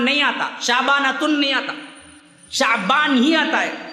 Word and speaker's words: شعبان: آتا، شعبانتن نہیں آتا، شعبان ہی آتا ہے، اور صحیح تلفظ اس کا ہے شین فتحہ والا، عین سکون والا، شعبان۔ شعبان اصل میں نکلا